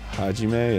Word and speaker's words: Hajime: Hajime, yeah.